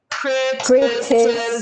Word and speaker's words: criticism: Criticism. There's 4. Crit. Crit. T. T. Si. Si. Zum. Zum. Criticism.